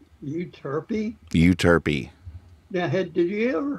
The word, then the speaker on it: Euterpe: Pronounced euterpe. Euterpe?